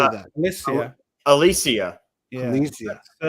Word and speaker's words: Alesia: Alesia.